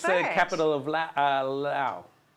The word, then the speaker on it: Laos: capital of Laos. Laos. Laos. I wouldn't know. Some people say Laos, but it's Lao, is how it's pronounced.